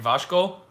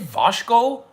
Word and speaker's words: Vasco: Is it Vasco or Vasco or Vasco? Vasco. I can't even pronounce my own team. Vasco. Which maybe should be a -1 on the pronunciation challenge. You can't even pronounce your own team. Vasco. Second, Vasco. Oh, I've been saying Vasco with an H in there.